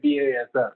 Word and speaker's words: BASF: And I was pronouncing in the wrong way the name of the brand, BASF. Apologies. But actually you're correct. In Brazil, we call it BASF. But in Canada, we say BASF.